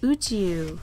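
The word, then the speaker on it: 宇宙: Now if you combine these two kanji, they pronounced Uchiu, meaning space, as in outer space.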